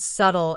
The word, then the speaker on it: subtle: For example, he saw the word subtle in the subtitles. He already knew this word from reading, but when the character spoke it, he didn't recognize it at first because the B is silent.